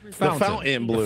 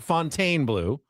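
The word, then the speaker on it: Fontainebleau: A luxury fountain blue. Fountain blue. Yeah, that's it. Sounded like fountain to me. Fountain blue. Not fontine blue. Not font blue.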